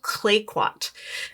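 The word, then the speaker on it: Clayoquot: something and uh she didn't know how to pronounce it which fair enough it's kind of a complicated name anyway the it's called clay quat kayquat sound is an area here on Vancouver Island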